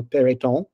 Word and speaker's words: Peyrouton: That, you know, I pronounced your name in the correct French way, no Peyrouton, And so that makes you feel good because you feel like, well, Jim's interested in me.